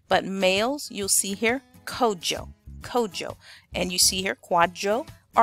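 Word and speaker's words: Kwadwo: be called Joe now this is written quad Joe and I'll show you the variations in just a moment but the most common pronunciation for boys born in the country of Ghana your traditional African name would be Kojo all right and if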